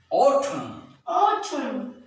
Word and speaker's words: autumn: Next, if a word ends with MN, N is silent as very important words.